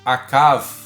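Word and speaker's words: עָקַב: O leitor atento já deve ter percebido que, apesar de calcanhar pronunciar-se akev e a raiz do verbo enganar pronunciar-se akav, o fato do hebraico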